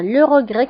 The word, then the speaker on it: le regret: هنا أيضا le regret كنكتبوها بالت في آخر الكلمة ولكن لا تنطق.